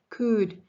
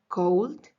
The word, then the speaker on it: could: could do a split could so here I want you to practice the pronunciation it's not cold is not cooled is could could okay and also when